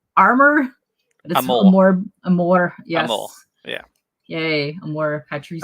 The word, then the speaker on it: Amor Patris: call that AR armor Amore yes yeah yay am more patri am more Patric yeah it's Latin for Father's Love Father's Love